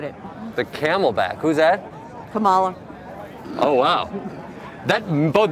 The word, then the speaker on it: Kamala: I don't think Biden's going to make the 4 years and the camelback, forget it. The camelback, who's that? Kamala. Oh, wow. That both mispronounced the name and xenophobic.